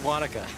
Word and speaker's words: Wanaka: It's Wanaka.